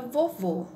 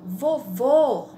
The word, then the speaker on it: vovô: o exemplo aqui só pensa em na palavra vovô ou vovó para a gente poder é escrever